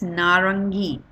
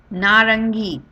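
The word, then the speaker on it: नारंगी: visible very obvious and it is pronounced in Hindi as narangi narangi.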